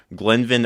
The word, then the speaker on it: Glenvin: I get a lot of people that butcher the first name, but yes, uh my name is Glen Van Jr.